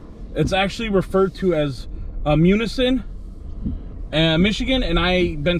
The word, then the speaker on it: Munising: And I've been saying the name of this city wrong the whole time I've been here, and I want to apologize to those who live here, but it's actually referred to as Munising, Michigan, and I've been